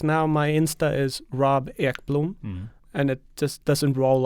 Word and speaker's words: Ekblom: speaking, it's always like I have to spell it for them, EKBLOM, like Ekblom, and they're like, still don't get it. So yeah, It's Ekblom.